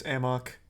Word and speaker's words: Amok: much of a headache it's not pronounced a muck in the game it's amok it's not a muck